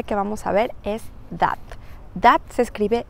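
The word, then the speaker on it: date: la primera palabra que vamos a ver es that that se escribe d a t e y a primera vista podríamos pensar que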